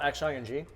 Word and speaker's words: Xing: It's spelled X-I-N-G. Oh, so in Chinese is oh, Xing, Xing, right? Xing, yeah.